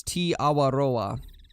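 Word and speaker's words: Te Awaroa: from new zealand uh was saying that it's t awaroa because i had a few different people in the comments that were from new zealand saying that that's the correct way to pronounce it and i take the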